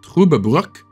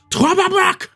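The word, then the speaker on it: Trüberbrook: arrived in Truberbrook, or I believe its actual pronunciation is Truberbrook. But for some reason, a lot of people think that Germans are just angry when they speak, so they think it's more like Truberbrook!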